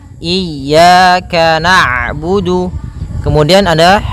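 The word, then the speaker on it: نعبد: Kemudian ada huruf ain yang berharakat sukun. Ketika huruf ain berharakat sukun, ain itu punya ee punya sifat namanya bainiah. Yaitu bacaan di antara syiddah dan rakhawah. Kalau syiddah suaranya tertahan. Kalau rakhawah suaranya mengalir.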